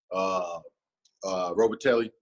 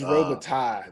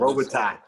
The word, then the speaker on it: Robitaille: With the additions with one of Germany's best receivers, Robitelli. Did I say his name right? It's Robitaille. That's what I've been told. Robitaille.